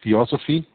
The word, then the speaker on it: Theosophy: Helena Blavatsky was the founding person of Theosophy, which is how you say that, the fusion